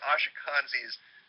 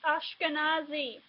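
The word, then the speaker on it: Ashkenazi: take a look at ashak kanzi's profile he mispronounced my temp it's ashkanazi you know the ethnic group of Jews that lived in Eastern Europe it's not ashak kanzi ashkanazi before you make somebody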